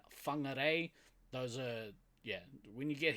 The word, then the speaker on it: Whangarei: You'll hear a lot of towns and place names in this country that start with the F. For instance, Whakatane and Whangarei.